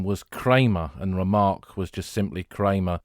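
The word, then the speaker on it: Remarque: that in a fictionalized account but who was remark himself he was born as Eric Paul remark spelled differently to the way his surname is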